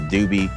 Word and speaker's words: Doubes: And today we're heading out to the Trestle Bridge, which I believe is pronounced the Doobie Trestle Bridge, just between Peterborough and Omi.